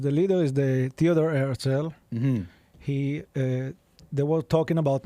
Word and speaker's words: Herzl: Herzl. How do you say his name? Theodor Benjamin Herzl. Herzl, it's H-E-R-Z.